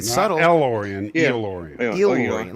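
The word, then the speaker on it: El-Aurian: Yeah, let's phonetically break it down. It is like a eel, right? Like does the first part would be eel, right? And then work with me, people. Orion. Elorian.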